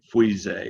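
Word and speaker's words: Fuissé: Try not to butcher it too much, but Pouilly, no pronouncing the L's, and Frisé, if you had to put a W in there, and 2 E's, Frisé.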